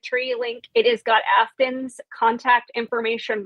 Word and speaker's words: Aftyn: Afton is spelled Aftyn.